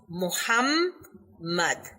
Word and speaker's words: Muhammad: the the name of our holy prophet muhammad has double m in it therefore it should be pronounced muhammad in the same way